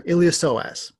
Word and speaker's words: iliopsoas: usually do is iliopsoas see the p is silent so iliopsoas it's going to be